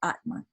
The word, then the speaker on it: Atman: You know, so it's written with an N, sometimes without, usually pronounced just with Atma, like that, okay?